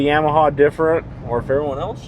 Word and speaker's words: Yamaha: I don't know if we say Yamaha different or if everyone else just says Yamaha wrong, but they pronounce the A as a O like Yamaha. Yamaha.